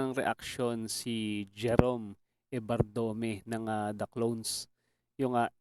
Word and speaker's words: Evardome: Ano pala ah mali pala ako ng bigkas nung apelido niya. Ebardome pala. Hindi pala Ebard Dome.